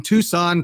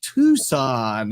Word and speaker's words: Tucson: trying to type in Tucson t s it's not Tucson it's tuxon I'm sorry just but they pronounce it it tucon anyways so you want